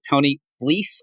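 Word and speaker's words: Tony Fleecs: Tony Fleece, I hear, is how you pronounce it.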